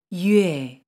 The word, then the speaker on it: yue: Yue. This sound is created by combining the sounds U plus A.